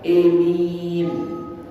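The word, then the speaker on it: آمين: Nah, amin ini juga ada pendapat begitu, membacanya dengan imalah, emin, emin. Hanya itu di imalah.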